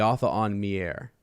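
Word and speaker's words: Atha'an Miere: author on me air the author on mirror is how you say them um if you look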